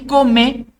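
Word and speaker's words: comé: Y come es una palabra aguda que termina en vocal, por eso lleva tilde.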